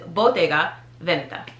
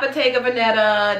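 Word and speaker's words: Bottega Veneta: get it right but the proper pronunciation is botega veneta botega veneta not botega venetta not bodega venetta just you know act like you in rome or something veneta that one's now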